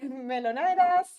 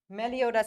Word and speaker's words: Melodas: Melonas. Mel. Melo. No, I said it wrong. Melo. Melodas. I said it always wrong. Your name. Melodas is correct.